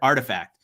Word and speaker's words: RTFKT: Because it's literally RTFKT, and I'm like, I don't know what that spells. Somebody had said, "Oh, it spells Artifact."